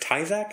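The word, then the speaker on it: Tyzack: And so Claudius runs in, and Antonia is sitting in a chair, and it's Margaret Tyzak, I think is how you say her name?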